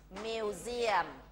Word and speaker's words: museum: ิ ว เ ซี ย ม againOne more museum M U S E U M ท่ า